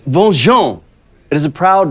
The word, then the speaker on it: Van-Jean: It is pronounced Bonjour.